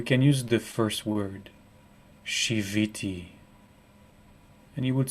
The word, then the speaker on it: shiviti: use the first word shiviti and you would spell it s h i v as vector v i and it sounds like the word shabbat there are sound equivalent